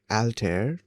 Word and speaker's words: Altair: It's generally pronounced alter uh rhyming with hair and stare. Uh the first syllable sounds like the al in album or alpha.